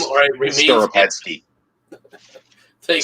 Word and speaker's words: Skoropadsky: I'm not even going to attempt to pronounce that name, or it remains. Skoropadsky. Thank Skoropadsky.